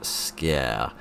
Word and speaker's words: Sker: gentlemen and welcome to ma of Scare at least that seems to be how it's pronounced after looking up a pronunciation of it on the internet because it is not English it is Welsh because this is a